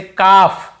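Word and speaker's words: calf: जैसे काफ काफ काफ हाफ हाफ काफ हाफ एल को यहां पे नहीं पढ़ना है। कालफ हाल्फ नहीं पढ़ना है।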